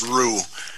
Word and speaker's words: Rue: Just for clarity, my last name is pronounced Rue. The Chief X is Rue. Silent.